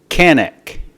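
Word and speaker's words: Qaanaaq: Thule now the town is referred to as Canik q-a-a-n-a-a-q so forgive me if I mispronounce that I believe this lighter is all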